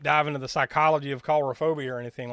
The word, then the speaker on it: coulrophobia: What's the pronunciation for the fear of clowns? Coulrophobia.